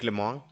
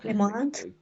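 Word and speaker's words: Lemoine: mencionabas hace ratito a Black, no, pero no es Black, es Blake Lemon. Blake. Blake Exacto, Lemon. Blake Lemon, Lemont. que tiene un apellido medio difícil de pronunciar para nosotros.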